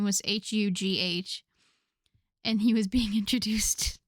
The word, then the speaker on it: Hugh: a name tag and couldn't pronounce it because in French all of those letters are silent.